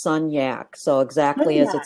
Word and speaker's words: Sunyak: mention before we went live but it's actually pronounced son yak so exactly as it spelled ask you a